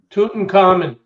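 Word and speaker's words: Tutankhamun: hoopla of King tutt's tomb Doug can you pronounce King tutt's full name toon common that's right you win what do I win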